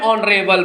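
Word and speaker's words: honorable: नरे बल मैन क्योंकि यहां पर एच क्या है एच जो है साइलेंट है एच क्या है साइलेंट है और इस शब्द का उच्चारण किससे प्रारंभ हुआ है वावेल साउंड से नरे बल से शुरू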